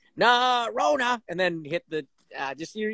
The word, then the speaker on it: Norona: But say it like Costanza. Norona.